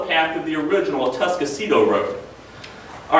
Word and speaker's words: Atascocito: All right, and by the way, for years, my mother pronounced that word as Atascocita. I would always correct her saying, stop talking like a hick, there's no U in the word, it's Atascocita. Well, when I was researching the history of this road in the archives, one of the maps spelled the name out phonetically. It's Atascocito, and I'm never going to live that one down.